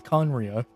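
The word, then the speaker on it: Khaenri'ah: fallen kingdom of conria oh there it is conriya that's how it's pronounced huh that's kind of weird hey where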